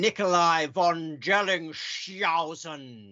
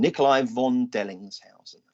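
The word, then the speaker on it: Nicolai von Dellingshausen: Richard Nigel Mansell, and Nikolai von Delling. Look, we need to do that properly because people might not be able to find that with your ludicrous pronunciation. Okay. Nikolai von Dellingshausen. All right.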